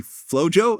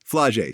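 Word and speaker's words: Flau'jae: Is actually Flojo. Am I pronouncing the name right? Flage.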